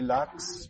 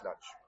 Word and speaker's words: Laxe: It would be Laxe. A simpleton like me would say it's Olivier Laxe, but apparently it's Laxe.